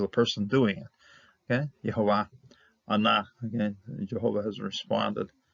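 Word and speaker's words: יהוה: We got a metech right here to tell us, keep that first syllable separate from the rest of it. Okay, sort of like a little chopping block right there. Yehovah, and Jehovah Anah, responded, testified.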